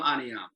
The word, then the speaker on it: Ahneeahm: Ahneeahm? How do you pronounce your name? I'm sorry. His name is Ahsaf. He's actually borrowing my account. So his name is Ahsaf. I'm Ahneeahm.